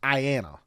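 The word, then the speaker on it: IANA: the internet Authority for names and numbers I pronounced Ayanna now most people get IP addresses from their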